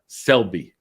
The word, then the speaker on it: Selbie: So how do I pronounce it? Selbie.